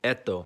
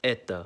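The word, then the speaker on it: это: You think it would sound like eto, but it's pronounced as eta.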